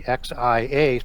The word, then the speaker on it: Xia: And so they did that again in China with the Xia dynasty, XIA, pronounced Xia, that produced all of